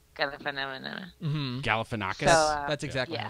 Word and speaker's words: Galifianakis: Galifianakis. So, that's exactly yeah. how it's pronounced, actually.